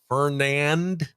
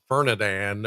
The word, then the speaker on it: Fernand: We do have a new system tropical storm Fernand. It's not Fern Fernadan or Fernad Fernad.